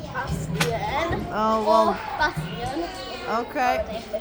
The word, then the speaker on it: Bastian: So in Slovakia, people pronounce the words the way they're written. Yeah. Okay, so if it's written with E, they pronounce it as Bastien. If it's written with A, they pronounce it as Bastian.